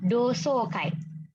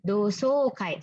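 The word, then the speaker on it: 同窓会: Dibacanya dosokai. Ya, dosokai. Nah, ini so ya panjang ya minasan.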